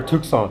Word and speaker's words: Tucson: Is it Tucson or Tucson? It's Tucson. Tucson. It's spelled Tucson.